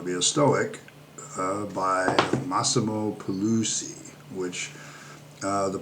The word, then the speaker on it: Pigliucci: which the pronunciation has, there's a G in there, but the one pronunciation I saw kind of pointed out that Italian and G's, sometimes the G is there and sometimes the G is silent, so one of the